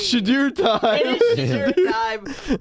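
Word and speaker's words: Shedeur: we pay attention to, constantly say Sheduer. They add the "ewer" in there. Yeah, they can't just say Sheduer and pronounce it correct. It's Sheduer. It's Sheduer.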